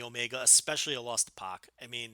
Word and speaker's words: X-Pac: Tupac I don't know in American vernacular P AC has always been pronounced POC I don't know how it's done in you know the little corner of England where he's from you know where where they mispronounce everything but it's like the rest of the world has been saying POC for a decade now all of a sudden we're supposed to say PAC I'm sorry that's gonna